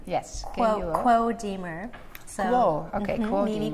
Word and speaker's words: Kuo: would be cool but the English pronunciation is quo okay okay so this